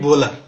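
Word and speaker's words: Wöhler: German বিজ্ঞানী উচ্চারণে হলো ডব্লিউ এর উচ্চারণ হলো জার্মানদের ক্ষেত্রে ব হয় আমরা উচ্চারণ করে কি ফ্রেডরিক বোলার যেহেতু ডব্লিউ টা এর মত উচ্চারণ হয় তাহলে উনি কোন দেশের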